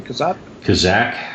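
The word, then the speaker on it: Kazzak: How do you pronounce his name? Kazak.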